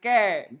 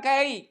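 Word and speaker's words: καί: tadi kan dan kan kek bacanya ke bukan key key nggak ada ininya Oke jadi Oke Enggak boleh key gak boleh ke ya nggak ada ruginya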